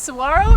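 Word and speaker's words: Saguaro: of Tucson that we enjoyed so much it's Saro National Park I had to learn how to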